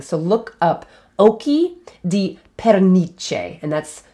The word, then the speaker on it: pernice: looks really interesting so look up oki di perniche and that's spelled p-e-r-n-i-c-e perniche that's partridges eyes another animology and sticking with